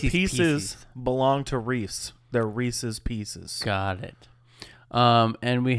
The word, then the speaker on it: Reese's Pieces: Reese's Pieces mhm and the correct pronunciation of that is Reese's Pieces they're not Reese's Pieces Just so is that